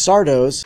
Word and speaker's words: Sardo: Mary Beth seeks Sardo's... That's Sardo. Accent on the dough.